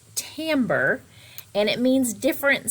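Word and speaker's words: timbre: begin talking about tamber now it looks kind of like timber for those of you who remember that word from before but it's called pronounced tamber and it means different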